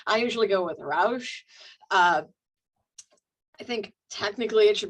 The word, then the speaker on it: Ruysch: we're talking about today has a particularly challenging name for non-Dutch speakers, that UI diphthong. I can't even pretend to say it correctly. I usually go with Ruysch.